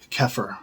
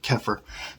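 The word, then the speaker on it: Xeper: apotheosis the saidian would call it kefir or it's spelled like zephyr but kefir and it means to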